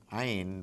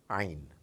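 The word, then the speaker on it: عين: Ain, I'm sure you must have noticed it when the Quran is recited. It comes from deep inside the throat, a very special sound, Ain, Ain.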